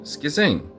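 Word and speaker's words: σχίζειν: Well, it turns out that schizoid comes from the Greek. I think you pronounce it schizein.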